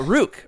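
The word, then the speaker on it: Rukh: I'm talking about Rook, right? Or Rook. How do you say it, Freddie? I know you say it all exotic, don't you? I just put a little harsher KH on the end. Rook.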